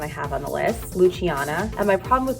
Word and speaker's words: Luciana: have on the list luciana and my problem with luciana is it's spelled l-u-c-i-a-n-a italians pronounce the ci like a ch but i feel like